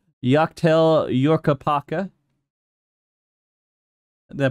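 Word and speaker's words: Yak T'el: I'm not going to pronounce this right. Yaktel Yorkapaka.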